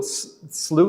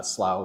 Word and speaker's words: slough: So, slooh is the word that I grew up with